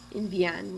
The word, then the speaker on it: envían: And then over here in the ellos, ellas, ustedes form, we do have envían with, envían with an accent on the I.